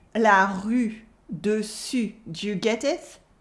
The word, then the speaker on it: rue: When learning French, people often can't make the difference between the U and the OU.